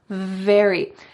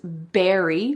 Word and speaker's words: very: want to say very, your top teeth are on your bottom lip. Very. He's very handsome. He's very smart. Very. You don't want to say that he's berry because that is talking about a fruit. Instead, very.